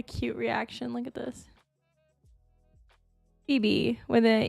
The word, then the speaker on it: Phoebe: h o e b if you've ever seen the show friends um it is a character on friends but it's kind of